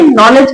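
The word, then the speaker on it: knowledge: ये नॉलेज की स्पेलिंग है बट शुरू कहां से होती है? के से। कैसे लिखेंगे? नॉलेज। शुरू कहां से होती है? ये के से ही होती है।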